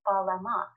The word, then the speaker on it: Balam: that we're meant to read this glyph as Balama, minus the echo vowel, so Balam.